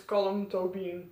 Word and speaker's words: Colm Tóibín: Yeah, you pronounce it as Colm Tóibín, but I didn't know that.